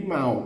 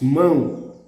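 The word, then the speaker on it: mão: mao but the the the word hand is said mo then we must place the two accent on it moon we thought the accent would be mao it's wrong it's moon another example would be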